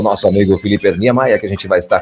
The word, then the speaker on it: Filipe Niemeyer: É assim mesmo a pronúncia, o Filipão? Bom dia a todos. Sim, é Felipe Niemeyer. Niemeyer, legal.